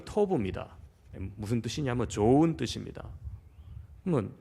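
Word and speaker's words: Tob: 돕의 원어 발음이 토브입니다.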